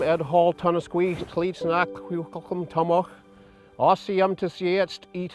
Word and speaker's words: kʷikʷəƛ̓əm: Traditionally, it used to be pronounced Kwikwetlem.